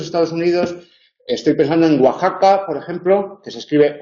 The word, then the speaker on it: Oaxaca: sur de Los Estados Unidos estoy pensando en Oaxaca por ejemplo que se escribe oaca y y se dice Oaxaca o Oaxaca sería un caso de de sinéresis